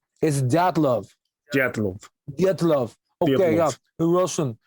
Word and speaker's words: Dyatlov: It's just when you say it like a Russian, it's Dyatlov.